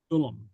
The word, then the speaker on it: film: And notice film is pronounced with the little, film. Okay. With the little helping vowel in there.